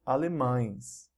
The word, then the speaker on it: alemães: Pão becomes pães, pão, pães, and alemão changes to alemães, alemão, alemães.